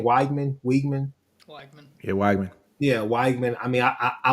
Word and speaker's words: Weigman: Yeah, Weigman.